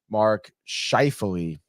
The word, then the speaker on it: Mark Scheifele: Mark Scheifele, that's how you say his name.